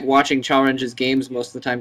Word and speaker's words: Chalrenge: Hey, we saw it from Chalrenge, which is apparently the correct way to say that kid's name, Chalrenge 2.